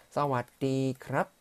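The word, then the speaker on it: สวัสดีครับ: 사와디 크랍 또는 여성분들은 사와디 카 라고 발음하시면 됩니다.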